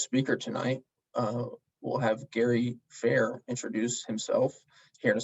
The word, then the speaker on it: Fehr: So as Trenton said, my name's Gary Fehr, and that is pronounced correctly.